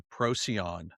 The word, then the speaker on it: Procyon: that they had come from the Procyon, How do you spell that? P R O Procyon? Procyon.